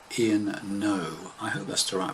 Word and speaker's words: Noe: very nice song from a gentleman called Ian no I had Lester our pronunciation is surname spelt noe and a song